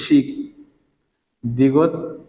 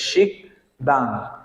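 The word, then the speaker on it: 식당: যেমন দেখেন আমরা এখানে কি লিখেছি, শিখ দিগত আ দা, বাচ্চা নাকি ইয়ং, তার মানে কি এই ইয়ং এর উচ্চারণ কার মতো, অনুস্বরের মতো। তাহলে কি হবে, শিখ দাং, শিখ দাং মানে কি রেস টু রেন।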